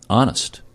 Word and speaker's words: honest: Honest. H is silent.